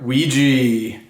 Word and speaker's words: Ouija: naughty or nice for Christmas o is for Ouija the French leopard says oui we'd love to